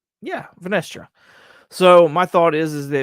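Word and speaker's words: Vernestra: Yeah, Venestra.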